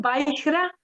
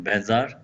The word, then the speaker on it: vajra: One is a Tibetan pronunciation, Benzar. Yeah, okay. But we can say Vajra too.